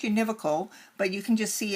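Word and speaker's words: univocal: The first is uh it's pronounced univocical but you can just see it's just uh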